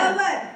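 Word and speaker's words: hour: घंटे होते हैं वो लेकिन ए साइलेंट होता है तो इसको अपन क्या बोलते हैं अवर अवर अवर के लिए क्या आएगा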